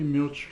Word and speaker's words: milch: of top top 40 milch cows milk you know this that's the way it's pronounced it milch milch cows and one bull